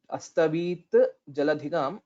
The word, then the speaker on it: अस्तवीज्जलधिगाम्: Please note the dvitva here. Astavit jaladhigam, astavit jaladhigam. So that's how we will have to pronounce.